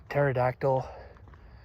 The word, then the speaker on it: pterodactyl: And then you have some words like pterodactyl and there's a silent there's a silent p at the beginning. Of course, you have to have that. But it's not pterodactyl or a pterodactyl. It's just silent.